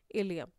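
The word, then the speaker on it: ileum: आपको बता देती हूँ, ये जो वर्ड है इलियम, इसकी स्पेलिंग को बहुत ध्यान से देख लीजिए, क्योंकि इसी प्रोनंसिएशन से मिलती जुलती एक और स्पेलिंग है ILIUM, उसके बारे में आप पढ़ेंगे जब आप बोन्स वाला चैप्टर पढ़ेंगे, लोकोमोशन एंड मूवमेंट। तो ये दोनों बहुत कंफ्यूजिंग है, प्रोनंसिएशन सेम है लेकिन स्पेलिंग में थोड़ा सा डिफरेंस है।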